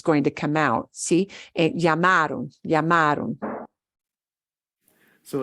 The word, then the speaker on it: llamaron: Bien, pero tenemos que trabajar en la pronunciación. Okay. ¿Otra vez? So is it, mis papás llamaron por teléfono. Ojo, no sé si tú lo estás escuchando. Cody está diciendo llamaron, Mhm.